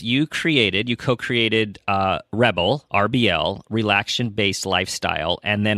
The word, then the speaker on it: RBL: So, I have a company called Rebel. It's spelled RBL, and it stands for relaxation-based lifestyle.